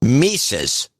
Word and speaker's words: Mises: you guys would be the correct pronunciation of the name mises it's pronounced mises ah well we we